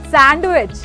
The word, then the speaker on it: sandwich: Sandwich. No, it's sandwich. D is silent here.